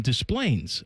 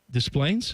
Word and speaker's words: Des Plaines: You pronounced the S there, huh? Des Plaines? I would have said Des Plaines. No, not Des Plaines. Des Plaines.